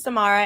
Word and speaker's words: Samara: So first of all, my name is Samara. It rhymes with tomorrow. I'll get it to you today. That's how you remember it.